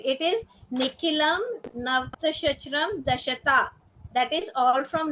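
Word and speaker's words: Nikhilam Navatashcaramam Dashatah: I pronouncing it correctly, ma'am? Correct, correct. It is Nikilam Navtashachram Dashata.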